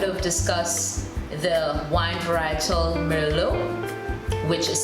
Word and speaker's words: Merlot: So in the beginning, I would have discussed the wine varietal Merlot, which is spelled M-E-R-L-O-T. Of course, we leave the T out and we say Merlot.